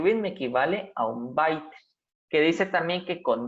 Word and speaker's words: byte: Esta ya tiene otra pronunciación, se le llama byte, que dice que equivale a 8 bits.